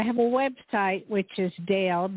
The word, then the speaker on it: Dayle: and uh i have a website which is dale d a y l e dale dot com wonderful okay thank you